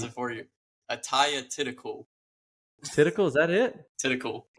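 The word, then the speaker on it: Atthaya Thitikul: She's 14-1, and that's Athea Thitikul. I don't know. It was goodness. a tough one. It's let me pronounce it for you. Ataya Thitikul.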